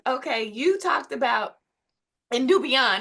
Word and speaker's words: Nubian: So, but Nubian, okay, you talked about, and Nubian, am I saying it right? Yeah, new beyond.